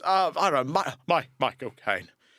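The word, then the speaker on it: Michael Caine: U there's uh I don't know, my Michael Kane. And if you say it correctly, his own name sounds like he's saying my cocaine.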